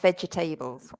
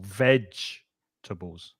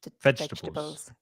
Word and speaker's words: vegetables: four three syllables not vegetables and you stress the first syllable the first syllable is the strong syllable vegetables vegetables good uh hi hey